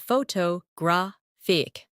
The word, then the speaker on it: photographic: In English, some words are pronounced with extra emphasis on one part. For example, photograph, photographer, and photographic. The stress moves, and that changes the sound.